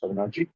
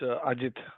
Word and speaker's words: Ajit: Am I pronouncing correct? Avinarji? No, it's Ajit.